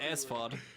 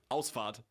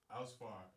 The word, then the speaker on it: Ausfahrt: But it sounded like you said Asfahrt. How do you pronounce it? Ausfahrt. Ausfahrt. Ausfahrt. Ausfahrt. Yeah, the problem is like you can't have like the r. Hard R.